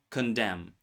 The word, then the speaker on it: condemn: Silent n appears before am at the end of words. Words like autumn, column, condemn. The n was once pronounced but later dropped.